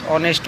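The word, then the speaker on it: honest: নেক্সট হচ্ছে দেখুন, শ্যাম is dash অনেস্ট বয়। যখনই আমরা অনেস্ট বয় যখনই আমরা দেখব, তখন এখানে কি হয়, এইচ এখানে যে সাইলেন্ট থাকে, তাহলে ও যেটা আছে এটা ভয়েল আছে।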